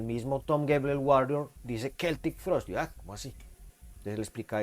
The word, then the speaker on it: Celtic Frost: Blade, la primera edición se pronuncia Celtic Frost, no Celtic Frost, que fue un error que tuvimos durante décadas.